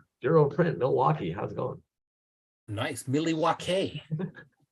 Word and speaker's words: Milwaukee: how's it going nice Milly wakay remember that from Wayne's World it's pronounced miliwaki I believe that was Alice